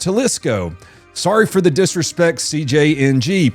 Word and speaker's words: Jalisco: Also, apparently it's pronounced Jalisco.